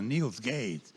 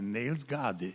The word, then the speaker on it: Niels Gade: Um compositor dinamarquês, chamado Niels Gade. Eu até, no primeiro momento, como não conhecia, achei que fosse de pronúncia americana, Niels Gade, mas não é, é Niels Gade, é um compositor dinamarquês.